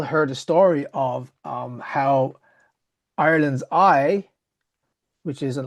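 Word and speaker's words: Howth: She's like, "No, yeah, but it's pronounced ho."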